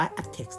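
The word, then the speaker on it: aptX: ฆ่า ตัว นึง ที่ เขียน ว่า apt x นะ ครับ อ่าน ว่า อัด text นะ ครับ ตัว นี้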